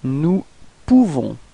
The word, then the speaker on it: nous pouvons: Nous pouvons. Okay, so you write this O-U and you pronounce it OU, okay, so if you combine it, you nous pouvons, okay, you don't pronounce the final S.